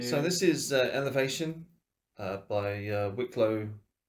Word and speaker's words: Wicklow: So this is Elevation by Wicklow Wolf, or Wicklov, if you want to pronounce it that way.